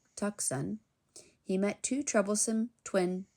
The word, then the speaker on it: Tucson: In Tucson, which looks like Tucson, he met two troublesome twin toucans.